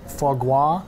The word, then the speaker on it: foie gras: All right, Beth introduced me to foie gras Foie gras, yes.